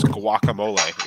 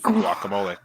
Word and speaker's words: guacamole: And actually, the Spanish pronunciation would be guacamole. That's what I said. Yeah. It's only the first syllable. So wa, we say gua, we say wa, but the English pronunciation is guacamole.